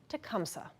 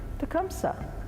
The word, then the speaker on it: Tecumseh: and you'll notice that sims recognizes the original pronunciation for tecumseh during this story tecumseh we have the city of tecumseh and we